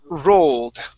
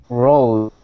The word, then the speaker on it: rolled: Okay, and our next one is rolled. Okay, so right here, give me a good R at the beginning, and instead of rolled, it's rolled with a D sound at the end. Try that. Okay, rolled.